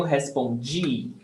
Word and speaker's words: respondi: Você responde, eu respondi. The difference is in the stressed syllable. Você responde, the stress is on pom, responde. And the other one, eu respondi, the stress is on G.